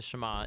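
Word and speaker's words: שמע: Now, the first word of the Shama is hear or listen, which in Hebrew is pronounced shama.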